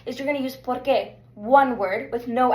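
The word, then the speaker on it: por qué: So as I said pronunciation is going to be porqu. So repeat after me porqu. Perfect. So notice this is two different words.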